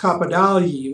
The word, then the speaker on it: Capodagli: on it you know it looks like capo dagley c-a-p-o-d-a and in italian it's pronounced cappadoli which is a little more phonetic sure but when my grandparents